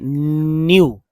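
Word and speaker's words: knew: और यू, तो देखिए इस तरह से न्यू, न्यू, है ना, न्यू, न्यू लिखा गया, न्यू, न्यू ही पढ़ना है, के साइलेंट है।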